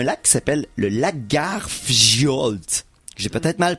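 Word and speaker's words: Lagarfljót: Prononce les J comme des Y, ça va donner un coup de main. L'important, c'est que c'est tout simplement, ça veut dire monstre du lac Lagarfjolt. Donc, Fiolte. C'est déjà un peu plus proche. C'est pas tout à fait ça, mais ça y ressemble plus. Il prononce pas les J.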